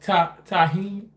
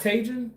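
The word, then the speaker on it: tahini: LO pronounce it Tahine. Tahine. This is Tahine. Oh, not Tajin.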